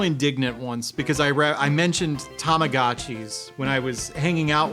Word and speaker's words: Tamagotchi: I got real indignant once because I mentioned Tamagotchis when I was hanging out with some dude